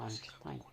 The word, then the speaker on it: Einstein: Et le scientifique instinct Albert Einstein, c'est-à-dire qu'il s'écrit instinct, mais se prononce Einstein.